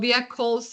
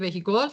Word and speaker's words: vehicles: Towards the end of 2007, the manufacture of motor vehicles, το vehicles, έτσι διαβάζεται, όχι vehicles, εντάξει, shot up, deteriorated, or soared.